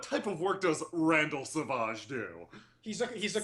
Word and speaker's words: Savage: name is Randall Savage although he pronounces it saage R Savage uh yeah